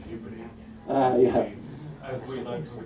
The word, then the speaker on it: Ghibli: But if you say Ghibli, they won't understand what you're saying. You have to pronounce it Ghibli.